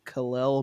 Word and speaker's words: Khalil: And I'll go ahead and throw in the next one too, which is funny because he was named after Superman, but you don't say it like this. It is Khalil Mullings.